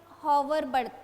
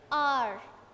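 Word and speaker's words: hour: आर अब यहां पर इसको कई लोग हॉवर पढ़ते हैं ठीक है प्रोनाउंस करते हैं बट एच साइलेंट है तो यहां पर इसको क्या प्रोनाउंस करेंगे आर चलिए यहां पर आंसर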